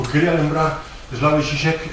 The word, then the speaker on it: Žižek: Ben, Slavoj Žižek, ou Zizek, ou Zizek, parece que en esloveno se pronuncia Žižek, pero ele prefire que yo pronuncien mal, por motivos paranoicos, e ele, con moita gracia.